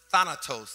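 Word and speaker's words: θάνατος: this word death in in the Hebrew is pronounced Thanatos and it sounds really evil I'll even say more Halloween like Thanatos so sin and death go together hamburgers fries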